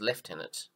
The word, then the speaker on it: lieutenant: in the Australian forces we don't pronounce this as lieutenants like they do in America I believe we follow the British pronunciation which is left in it then we come down